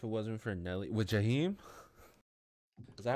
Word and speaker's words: Jaheim: if it wasn't for Nelly with Jaheim, is that how Oh you yeah, pronounce his Jaheim. name? Yeah, Yeah, yeah, Yeah. Jaheim.